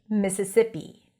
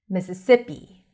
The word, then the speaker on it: Mississippi: Mississippi. Mississippi. The stress is on the second si.